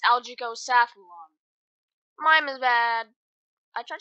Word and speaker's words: Algicosathlon: actually pronouncing it wrong it's not algaecost one it's algaeco saffron mime is bad I